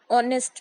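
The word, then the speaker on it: honest: ऐसे काफी वर्ड्स हैं जो एच से शुरू होते हैं बट उनकी प्रोनाउंसिएशन एच से नहीं होती है। ऐसे वर्ड्स में एच साइलेंट होता है एंड हमेशा एच के बाद वोवेल ही होगा। Example, N आर, एन ऑनेस्ट मैन। यहाँ हम देखेंगे तो हमने प्रोनाउंसिएशन में एच को साइलेंट रखा है एंड दोनों वर्ड्स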